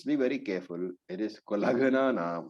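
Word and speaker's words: कुलघ्नानाम्: So when you pronounce, be very careful. It is Kulaghana Nam, not Kulagna Nam.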